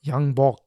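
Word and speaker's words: 양복: In the autumn, Yangpu, or Yangbok, as it's pronounced in Korean, the commanding officer of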